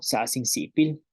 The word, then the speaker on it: sa'as in si'ipil: Y lo siento, sa sin sipil, lo siento. Entonces vamos a pronunciar una vez más estas frases.